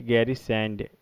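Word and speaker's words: गैरसैंण: इसको गैरी सैंड सैन भी बोलते हैं, बट गैरी सैंड इसका एक्चुअल प्रोनाउंसिएशन होता है।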